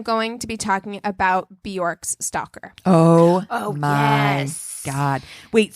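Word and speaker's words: Björk: you guys know that her name is not pronounced borm it's Bork like jerk B is how you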